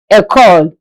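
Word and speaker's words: école: School is called a call. A call. E C O L E.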